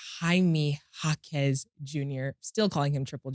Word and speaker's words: Jaime Jaquez Jr.: No, so the J is silent. Okay. Jaime Jaquez Jr.